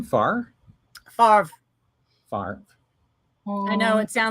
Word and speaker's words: Favre: I would say Brett Favre for 1996. Yes. Ooh. Is that how you pronounce his last name? Favre?